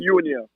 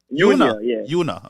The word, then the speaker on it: Eunia: How you pronounce the name? Eunia. Eunia? Empress Eunia. Eunia, okay. Eunia, yeah.